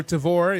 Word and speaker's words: Tavour: So there is a promo code out there for Tavor if you get the app. Again, it is spelled TAVOUR. There is a promo code ROBEAR, ROBEAR.